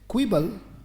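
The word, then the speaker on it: quibble: very good शाबाश बोले इफ यू बहुत अच्छे क्विबल क्यों यू आई बी बी एल ई क्विबल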